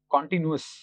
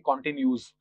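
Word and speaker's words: continuous: पर जो वर्ड है कॉन्टिन्यूअस, इसको नॉर्मली लोग गलत प्रोनाउंस करते हैं और इसको ऐसे प्रोनाउंस करते हैं कॉन्टिन्यूस। सो इट्स नॉट कॉन्टिन्यूस, इट्स कॉन्टिन्यूअस।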